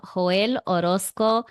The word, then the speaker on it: Joel Orozco: so let's get into it today we have hoel Orosco almea is that how I pronce pronounce it yes you got it right all